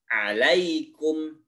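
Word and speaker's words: عليكم: two three Hai alaykum alaykum tidak alaykum Hidayah tapi alaykum Ini Nia maacih tinya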